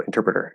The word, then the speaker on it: interpreter: So so that T is an actual T because it's the start of a stress syllable, right? We can't apply the NT plus vowel rule here because that T has to be there.